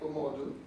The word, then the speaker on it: Omodu: I know you might not be able to pronounce this, but it sounds like Omodu.